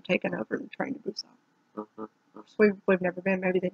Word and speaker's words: Busan: Train to Busan.